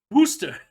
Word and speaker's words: Worcester: pro capitalism so yeah damn english making us pronounce wooster wooster is that it how is i